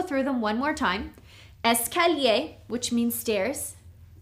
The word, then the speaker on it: escalier: The first one is escalier. This means stairs, okay? Escalier. The second one is ascenseur. This is an elevator. Ascenseur. Okay. Here we have 1, 2, 3, 4 syllables. Escalier.